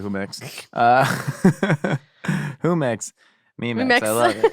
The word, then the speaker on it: Jumex: Is it pronounced Jumex? Yeah, maybe it's probably Jumex.